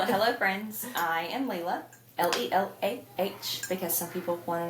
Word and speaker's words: Lelah: Lelah, because some people want to know how it's spelled.